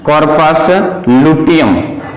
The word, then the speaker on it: corpus luteum: कॉर्पस ल्यूटियम spelling, उसका नाम पड़ जाता है कॉर्पस लुटियम, लुटियम, LUTEUM, LUTEUM, इसका नाम पड़ गया कॉर्पस लुटियम।